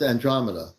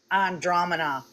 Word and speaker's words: Andromeda: from that one galaxy, and I'm going to pronounce it wrong, but Andromeda. No, it's Andromeda. Andromeda.